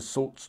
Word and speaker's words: Soult: forth their applause into Soult's dark brown column. By the way, someone advised me that Sue is pronounced Soult, not Sue, so apologies for that in the last episode.